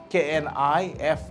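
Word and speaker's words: knife: b knob but but KN i f e knif most of the cases we get K when K is followed by n k is silent uh P silent P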